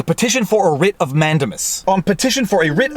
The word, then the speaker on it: mandamus: is a mandamus well in Quebec in French we pronounce it mondo moose and if you want to pronounce it incorrectly we pronounce it Mandy Amos and if there happens